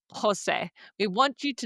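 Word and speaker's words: José: And then we want you to practice pronouncing that word out loud like Jose. We want you to not say Jose.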